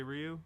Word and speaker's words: Ryu: whenever i learned like i learned that the actual way was to say ryu from what i'm from